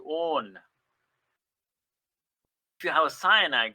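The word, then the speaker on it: -one: its own it's not one it's written as one but it's pronounced as own if you have a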